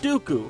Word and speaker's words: Dooku: the white and the rhymes with poopoo count dooku from the worst star